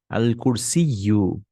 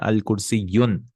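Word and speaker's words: الكرسي: Al-kursiyyu. Notice I'm not adding tanween. It's never al-kursiyun.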